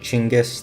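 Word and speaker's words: Chinggis: If you're unaware, by the way, Chingis, this is like a phonetic spelling of Genis. That's how you're supposed to pronounce the guy's name, Chingis.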